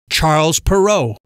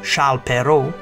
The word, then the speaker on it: Charles Perrault: Charlotte pero known to his English readers as Charles Perrault this edition of timeline presents Charles Perrault